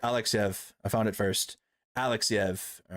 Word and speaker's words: Alexeyev: Alexeyev.